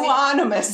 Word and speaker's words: euonymus: like, burning bush, or also known as winged eomine. How do you say euonymus?